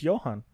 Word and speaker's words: Johann: I don't know how to pronounce German names. It's Johann.